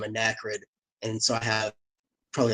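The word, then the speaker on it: Anakrid: under the name of ND and so I have probably like 20 albums out under that yeah damn spelled like ACD but with an N um it's a n a k r i d okay so yeah all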